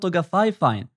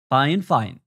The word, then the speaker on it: Fifine: the way, the name The company used to pronounce it "Fay-Fine", but the correct pronunciation is "Fine-fine".